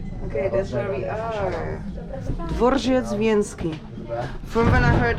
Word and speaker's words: Dworzec Wiejski: Dworzec Wiejski. From when I heard the man talking, I realized I didn't say it. I said it wrong. I thought it was dworec, but it's dworzec.